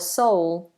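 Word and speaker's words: Seoul: you shall we um sa s s or soul soul soul soul soul or soul is coming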